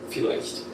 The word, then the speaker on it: vielleicht: Vater, Volk, vielleicht. Vater, Volk, vielleicht. Let's say each one slowly, then at normal speed. Very nice. Vater, Volk, vielleicht. It's not like a V, it's like an F.